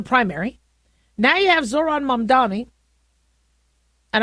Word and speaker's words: Mamdani: Now you have Zoron Mdani and I know he's his name gets mispronounced but it's I think Mam Dani.